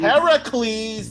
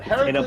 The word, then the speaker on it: Heracles: Heracles, Nate. The proper pronunciation, not like what fucking Disney did, but Heracles.